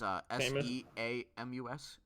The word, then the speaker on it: Seamus: I think it's Seamus, but there's no H. It's Seamus, and his last name's Power. That's still pronounced Seamus.